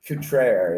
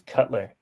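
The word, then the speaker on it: Cutrer: about he's about 29 Kate craer is how you pronounce that name by the way I thought it was Cutler yeah I know that's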